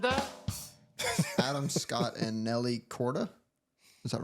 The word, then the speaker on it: Korda: page who said that Adam Scott and Nelly Corda is that right is that how you pronounce the last that's correct that is correct